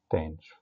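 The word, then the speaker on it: tanh: احنا هنا في مصر اتعلمناها الهايبربوليك ساين بننطقها شاين، والهايبربوليك كوساين بننطقها كوشاين، والهايبربوليك تان بننطقها تانش، فبننطق شاين كوشاين تانش، والتريجونومتريك بنقول ساين كوساين تان.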